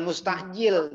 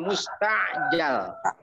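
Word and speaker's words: مستعجلة: Makanya maf'ul isim maf'ul, jangan mustajil, bacanya mustajal. Surat membawa sepucuk surat yang dipercepat. Nah itu. Jangan mustajil, mustajal.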